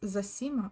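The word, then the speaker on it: Zosima: implies blockhead in russian zasima pronounced zasima in russian a great elder and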